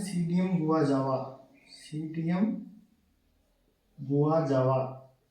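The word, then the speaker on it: Psidium: है सीडीएम गुवा जावा सीयम गवा जावा ग जावा नहीं होता है गवा जावा होता है ठीक है इसके अंदर प साइलेंट होता है सीम गवा जावा ठीक है बात करते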